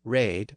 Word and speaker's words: red: the verb here is raid or read the northern poet renders the word phonetically as re D remember that the letter e had the a sound at the time so re D was raid with no inflectional ending